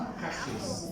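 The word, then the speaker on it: ἅγιος: Hagios, diga conmigo, hagios. Se escucha como gajos o algo así, ¿no? Hagios. Y eso es santo en griego.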